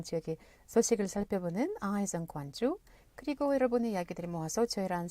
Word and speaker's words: Gwangju: Gwangju. Gwangju. Gwangju. Gwang. There is a Chinese city with the same Chinese characters. And Yeah? it's pronounced as Gwangju.